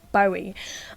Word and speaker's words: Bowie: So one way to prove that Bowie is pronounced Bowie is by thinking of this name. His son Duncan Jones was actually originally named Zoe Bowie.